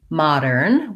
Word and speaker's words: modern: And so in the word modern, we have first syllable stress, modern. And the letter O is going to say the ah sound.